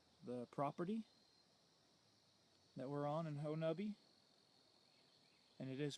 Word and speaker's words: Honobia: here, through the property that we're on in Honubby. And it is pronounced Honubby. It's kind of spelled like Honubia, but the local pronunciation is Honubby.